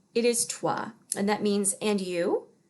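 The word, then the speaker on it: toi: respond either casually and a lot of people pronounce that toy and it is not toy it is trois and that means and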